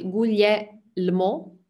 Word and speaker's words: Guglielmo: dal portoghese potete separare se voi pensate guglielmo pronunciate come limone quindi è il guglielmo